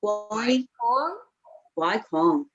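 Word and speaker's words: gỏi cuốn: Guai Quong.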